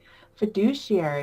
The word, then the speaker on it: fiduciary: For example, fiduciary. Have I said it right? Fiduciary, yeah.